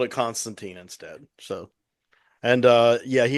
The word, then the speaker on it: Constantine: a Liverpoolian accent, Yeah, and it's supposed to be pronounced Constantine, not Constantine. That's Oh, Americanized, bastardized version that we have. I'm an American bastard. I'm gonna call it Constantine.